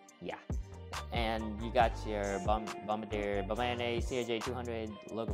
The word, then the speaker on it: Bombardier: I keep saying Bombardier, but it's actually pronounced Bombardier.